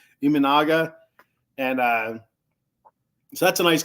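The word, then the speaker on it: Imanaga: If the Mets can't get Yamamoto, a nice consolation prize would be Shota Imanga. Iminaga. I keep saying it wrong. Iminaga.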